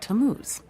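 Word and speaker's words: Tammuz: His name is Tamuz. To what? T A M M U Z. It's pronounced Tamuz.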